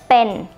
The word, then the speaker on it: เป็น: this character here But It's The mixture Between B and P when you speak the word ปะ ปะ it should Sound like this โ So เป็น เป็น เป็น means to